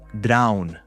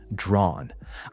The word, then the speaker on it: drawn: To be drawn to something, it's not drown, by the way. It's that a sound that we need to be making. It rhymes with on drawn.